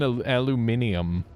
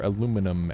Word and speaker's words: aluminium: Molten aluminium. Or aluminum, as the Americans say. The North Americans. Because I'm pretty sure that's how they say it in Canada, too.